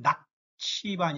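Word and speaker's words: Nakhchivan: 그래서 낙치반 이러면 지금 나히치반이라고 되어 있는데, 아르메니아 발음, 아제르바이잔 발음은 낙치반 이렇게 발음하거든요.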